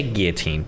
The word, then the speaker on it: guillotine: It's pronounced with an L in Britain and probably Canada. He's in America, and in America we say guillotine, bitches.